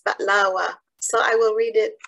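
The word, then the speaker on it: بقلاوة: Before reading it, I just want to note that the Arabic pronunciation for baklava is baklawa.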